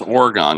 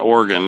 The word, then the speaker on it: Oregon: It's Oregon, guys. It's Oregon. Yeah, not Oregon. It's Oregon.